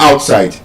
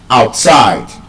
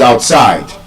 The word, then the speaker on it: outside: It's not outside. You don't say she's inside. She's outside. The stress is on the second syllable. Inside. Outside. You say she is inside. She is outside.